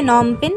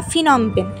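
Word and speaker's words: Phnom Penh: এই ক্যাম্বোডিয়া বা কম্বোডিয়া এই দেশটির রাজধানী হচ্ছে নমপেন বা ফিনমপেন। দেখো বানানটাতে লেখা থাকে ফিনমপেন কিন্তু উচ্চারণ করে নমপেন।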